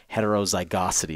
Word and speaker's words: heterozygosity: And this quality, I was calling it yesterday, extreme heterozygosity.